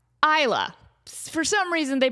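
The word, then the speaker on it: Islay: island off the west coast of Scotland called Isa. And they spell Isa L A Y. I is S L. Hold on. I S L A Y. Isa. For some reason, they pronounce that Isa.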